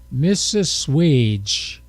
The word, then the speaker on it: Mississauga: It's Mississauga.